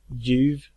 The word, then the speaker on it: ljuv: And lastly, we have the silent L. Ljus, ljud, ljuv, ljummen.